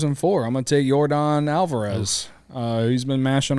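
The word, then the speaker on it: Yordan: right like he's he's I think Jordan is a n at the end all right y-o-r-d-a-n yeah I'm sorry it's like Jordan but Cody didn't spell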